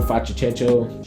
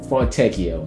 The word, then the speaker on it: Fontecchio: Simone Facicento, I know I just said his wrong. I know I said his name. Fontecchio, my bad. I know I said his name wrong just now. That didn't even sound right.